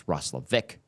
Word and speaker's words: Roslovic: And it's not an itch at the end, it's an ick. Yeah. Roslovic, Boslovic. There we go. I know a couple people have mispronounced it, but just to clarify, it's Roslovic.